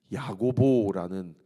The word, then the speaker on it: 야고보: 근데 이제 신약 시대 때는 이 야곱이라는 이름이 야고보라는 이 헬라식 발음으로 이렇게 바꾸어지죠.